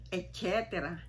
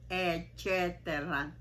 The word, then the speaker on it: etcetera: Madalas ay etcetera. Che, etcetera. Ganito po ang tamang pronunciation.